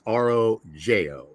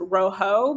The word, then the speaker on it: rōJō: And for the audience, that's rōJō. Correct. It looks like it's pronounced rojo, but the name rōJō came from my name.